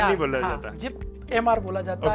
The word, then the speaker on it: JIPMER: सो तीसरे नंबर पे हम काय बात कर रहे हैं JIPMR इसको बोला जाता है, जिप बोला जाता है, JIPMER नहीं बोला जाता, JIPMR बोला जाता है, जिसका फुल फॉर्म होता है जवाहरलाल इंस्टीट्यूट।